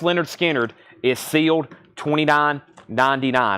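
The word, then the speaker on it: Lynyrd Skynyrd: vinyl that's awesome $44.99 on red vinyl and pronounced Leonard skinnard is sealed $29.99 all right we got some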